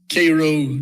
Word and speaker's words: Cairo: It's like we have Cairo, Georgia, but it's Cairo, Egypt.